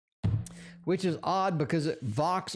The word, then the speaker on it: vox: is odd because it vox rhymes with box so you'd think look